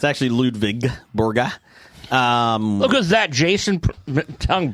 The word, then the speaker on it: Ludvig Borga: I just pronounced it Lwig. The the the see you guys the W in German is pronounced like a V.